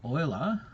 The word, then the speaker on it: Euler: calculus idea well uh Leonard Oiler and he's uh Euler I was going to mention him next week as well that's spelled Euler but it's oil a profound one of